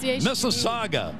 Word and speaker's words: Mississauga: on that pronunciation of Mississauga this is SOG that's the saga a lot of good